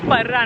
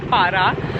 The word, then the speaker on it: Parra: I was saying it wrong the whole time. It's Parra, not Para.